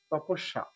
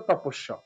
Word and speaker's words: তপস্যা: তপস সা, সা না, তপস্যা। সঠিক উচ্চারণ হচ্ছে তপস্যা।